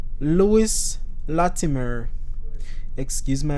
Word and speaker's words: Latimer: you know and gifted i must say louis latimer excuse my pronunciation so it's spelled l-a-t-i-m-e-r and i pronounce that latimer inventor and engineer